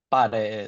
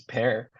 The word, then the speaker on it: pare: Everybody knows what pare is, right? It's not pronounced as pear.